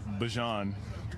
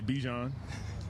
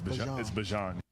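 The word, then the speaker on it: Bijan: How you pronounce my name is Bjon for everybody that's that's out there. Um, I know a lot of people say Bjon, but it's Bjon. So, there you go.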